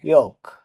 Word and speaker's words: yolk: YOLK, ইয়ক মানে কুসুম, এখানেও এল লেটারটি silent থাকবে, কারণ এল এর পরে কে আছে।